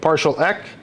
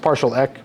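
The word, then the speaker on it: PartialEq: here CMP we have partial e that's how that's pronounced partial e partial equality partial or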